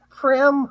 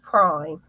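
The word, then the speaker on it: Prym: Prim hooks. Everyone pronounces it incorrectly. It's pronounced prime.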